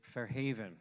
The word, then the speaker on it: Fair Haven: pardon me for that is Fair Haven right with the accent on the on the second syllable all right so everybody